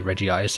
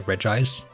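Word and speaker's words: Regice: so sometimes I say Reggie ice and sometimes I say reg ice I do kind of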